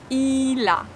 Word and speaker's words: il a: Here we have two different words. Il a, but we pronounce it like one.